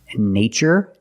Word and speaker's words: nature: These two words nature and natural. We see the spelling pattern tur. In this spelling pattern, T is pronounced with the ch sound like chicken.